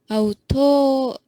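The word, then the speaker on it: αὐτόν: auton, Auton. auton, See how that accent goes down in the second syllable?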